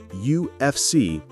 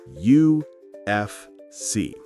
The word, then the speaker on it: UFC: When we say UFC, we say each letter individually. UFC.